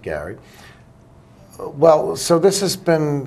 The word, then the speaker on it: Gerry: bastardized it to be Jerry. Yeah. And so, and that's true because Gary Studs, the congressman from Massachusetts, was a descendant of that governor, and it's spelled Jerry, but he was pronounced it Gary.